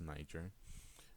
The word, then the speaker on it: Niger: lived around the Niger River that's how it's pronounced Niger uh and that of course is where other